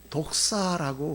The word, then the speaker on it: δόξα: 근데 그 영광이라고 하는 것은 헬라어로 독사라고 그래요. 우리나라고 독사 같죠. 발음이 그래요. 독사 이렇게 그런 독사가 아니에요.